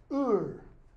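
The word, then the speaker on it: heure: How do you say that? Ur. Hors d'oeuvres or du. You don't pronounce the H.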